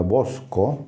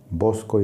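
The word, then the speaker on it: βόσκω: pastor o manada básicamente la palabra en griego se pronunciaría bosco como de grande bosco y con k como ya dije es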